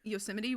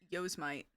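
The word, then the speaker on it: Yosemite: I used to think yuseim was yo mite or ymite.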